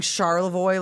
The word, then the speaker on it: Charlevoix: Just saying Charlevoix like it's Yeah. easy, as if it's Yeah. not spelled like Charlie View or some.